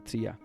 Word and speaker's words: Zia: eran los nativos americanos zia es como le llaman y se escribe Z ia pero lo pronuncian como tiia que los encontró este